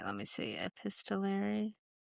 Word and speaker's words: epistolary: Epistolary, but I'm not sure if I am pronouncing it right. Let me see. Epistolary.